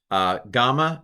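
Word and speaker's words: γάμμα: Gamma is g. It's never j. It's g, gamma. Delta, modern Greek would be delta, but let's go with delta, d.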